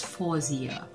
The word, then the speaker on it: Faouzia: also thankful for him correcting me on how to pronounce possessed name so i i hope i got this okay i got this correct now it's fawzia so there thank you so